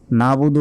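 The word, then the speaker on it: نَعْبُدُ: অনেকে কি বলি নাবুদু নাবুদু বললে এই যে মাঝখানে যে আইন রয়েছে এই আইনের উচ্চারণ কিন্তু আমরা বাদ দিয়ে বললাম তখন আমাদের গুনাহ হবে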